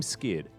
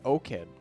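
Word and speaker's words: 5Kid: Because I have a feeling that 5 is supposed to be an S. I think it's O-Kid. I know his solo queue ID is O-Kid, yeah. Yeah, so 5 in Korea. Korean is pronounced O. Oh, yeah, that's right. So I think it's just O-Kid.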